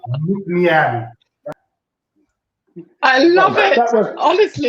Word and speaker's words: Nc'nean: Now just replace the L of look and the L of Leanne with an N. And then you will go like, Nc'nean. Nc'nean.